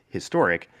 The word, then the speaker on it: historic: But because we pronounce the H in historic, it would be a historic.